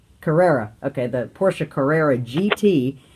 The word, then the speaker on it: Carrera: that how are you car how do you pronounce that the caria Carrera okay the Porsche Carrera GT it's got a